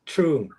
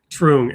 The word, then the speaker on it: Truong: It's Truong. Truong.